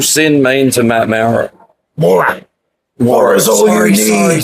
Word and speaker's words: Maurer: Maurer.